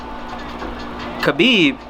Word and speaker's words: Khabib: Khabib.